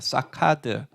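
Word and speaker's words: שֹׁקֵד: 하나 있고 이거 차이입니다 그래서 발음이 정말 비슷한데 사캐드는 아몬드고 사카드는 치키다입니다 자 지금부터는 여러분들 히브리어를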